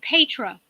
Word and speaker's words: Petra: to hear my name you pronounce it Pedro Pedro's happy please thanks